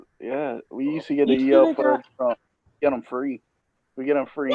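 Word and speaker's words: E.L. Fudge: I thought it was like. I called it Elmer fudge. Well, that's what it looks like, right? It looks like Elmer fudge.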